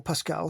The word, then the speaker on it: Pascal: "Yes, well, Pascal," he pronounced her name with the correct French inflection, standing up and brushing off imaginary droplets.